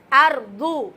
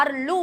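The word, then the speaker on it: أرض: அப்படின்னு சொல்லிட்டு கரெக்டா உச்சரிக்கணும் அர்லு அப்படின்னு சொன்னீங்கன்னா அது லாம் ஆயிரும் சரிங்களா அதனால அர்ு அப்படின்னு சொல்லி அந்த வாத தெளிவான முறையில உச்சரிங்க அதேபோல ஜில்லஹா அப்படிங்கறதுல ஜாவ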